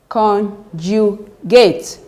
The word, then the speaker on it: conjugate: The third syllable from the end, from here, second one. Conjugate.